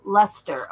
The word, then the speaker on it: Leicester: It's pronounced Leicester.